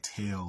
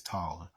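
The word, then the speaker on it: Taal: were called The Tall so t a a l um you may hear them pronounce like tail or t or something like that but that's incorrect it's taller and they were the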